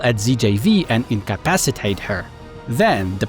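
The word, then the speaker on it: Zjaev: I finally know how to pronounce the Githzerais name. It's ZJV.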